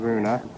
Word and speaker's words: Koruna: That's what people are calling Koruna. Okay, it's pronounced that way, but people say crown when they ask for the money.